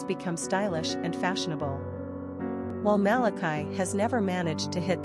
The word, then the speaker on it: Malachi: Number of syllables, 3. Ranking popularity, 177. Pronunciation, Malachy.